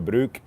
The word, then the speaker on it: Brück: And apparently I do pronounce the German name correctly, the Brück correctly. I believe I'm saying that correctly. He says I'm saying it. Just don't roll the R too hard.